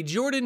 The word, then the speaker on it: Jorphdan: Hello everybody, Jordan here, the PH is silent.